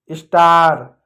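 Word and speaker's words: star: जब ए के बाद आर आता है तो ज़्यादातर क्या पढ़ते हैं? आ बोला जाता है। यानी अंग्रेजी में कभी भी ए के बाद आ रहा है ना प्यार बच्चों, तो हम वहाँ पर आ का मात्रा पढ़ते हैं। जैसे कार, पार्क, स्टार, हार्ड।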